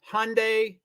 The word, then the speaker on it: Hyundai: So anyway, my question, for the white Hyundai, and I'm always in the pronunciations, and of course it rhymes with Sunday, but not many people know that.